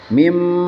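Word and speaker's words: ميم: mim maka ditandai nih mim nih ya ini dibacanya mim bukan bukan Min tapi mim teeh iklab itu digantikan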